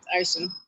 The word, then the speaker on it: Aisun: Is it Aisun? Yeah, that's right, Aisun.